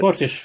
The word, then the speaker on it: Fortiche: that were made by, is it Fortiche or Fortish? I can't remember how you pronounce it. Fortish, yeah.